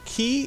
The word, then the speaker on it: quay: You know, Rebel told me they pronounced this key, but that's, you know, an English guy, so who knows? Is that Isn't the author English? Yeah. So, I think Okay, fine. We'll say key.